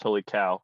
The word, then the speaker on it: Holy Cow: It's definitely pronounced Holy Cow. I know that's a dumb name, and phonetically it should be Caw, but it's definitely Holy Cow.